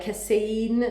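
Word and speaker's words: casein: don't digest well like cassaine i don't know i pronounce it in english cassaine c-a-s-e-i-n um so for that reason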